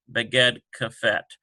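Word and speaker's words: בגד כפת: This has been explained in other ones, conveniently pronounced Beged Kafet.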